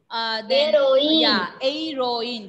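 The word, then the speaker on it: héroïne: So when H will be silent, think that H is not there. Then the remaining letters are E. Aeroine.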